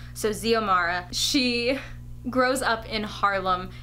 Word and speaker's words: Xiomara: right I think it's Xiomara it starts with an X but I think it's pronounced as a Z so Xiomara she grows up in